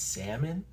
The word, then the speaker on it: salmon: Why is there an L in salmon, the word salmon? Why? Why? Why English? Why? In Spanish, it would be, you say salmon. Literally, you say salmon. That's how you say it. But in English, it's salmon?